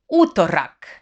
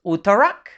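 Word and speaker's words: utorak: to the spanish one so uttorak not uttarak but uttorak wednesday is srieda sri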